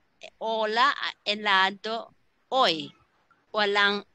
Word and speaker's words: hola: But the A, B, C, D, F, G, H, which started here with hoy, hoy, hola, we say hello, hola, ¿qué día es hoy? Is always with a silent H.